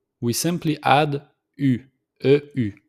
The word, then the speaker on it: eu: Instead of j'ai, tu as, il a, we simply add u, e-u. It's pronounced u. So it's like if it doesn't have the letter e, so we just pronounce the u.